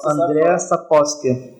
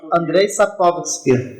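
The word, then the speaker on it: Andrzej Sapkowski: Como é que se pronuncia isso? Andrei Sapkowski. O J seria um I? Eu sempre falava André Sapkowski. Então, é igual o Red Sonja. O J você vira aí. Andrei Sapkowski.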